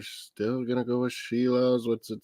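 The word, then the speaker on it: Šilovs: Shilovs. That's how they pronounce it.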